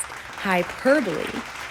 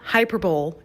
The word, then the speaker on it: hyperbole: If you guessed hyperbole, you're right. Now, this word is not hyperbole. No. You say it like this. Hyperbole. You exaggerate the per part, see?